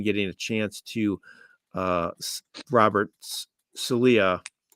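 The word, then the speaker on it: Saleh: I saw someone ask why isn't Trevor Siemian getting a chance to Robert Salia. Right, that's how you pronounce his last name.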